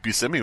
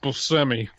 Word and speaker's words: Buscemi: By the way, there is a bar here where Steve Buscemi was stabbed in the neck.